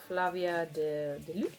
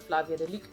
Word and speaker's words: Flavia de Luce: I always pronounce it Flavia de Luc, and it would drive my mother insane because she pronounced it Flavia de Luce.